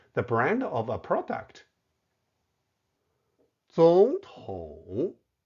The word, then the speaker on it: 总统: 总统 Note the tone change where 总 should be pronounced in the second tone.